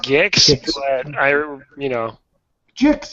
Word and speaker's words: Gix: um gixs I I is it gixs or jigs it's pronounced gixs but I you know jigs is like the